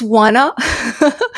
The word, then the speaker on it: Oana: It's wanna and then once you start typing wanna and like you go with that a lot of people don't know how to spell that. Yeah. O a n a. So wanna it's definitely and you